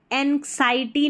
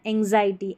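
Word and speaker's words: anxiety: पढ़ा जाएगा ये एंग्जायटी एंग्जायटी एंग्जायटी ठीक है एंग्जाइटटी नहीं पढ़ना है एंग्जायटी एंग्जायटी ऐसे पढ़ेंगे तो पढ़ा जाएगा इसको याद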